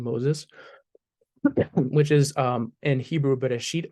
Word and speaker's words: Bereshit: Okay, so it has the names of the five books of Moses, which is in Hebrew Bereshit or Bereshis. This is the Ashkenazi pronunciation.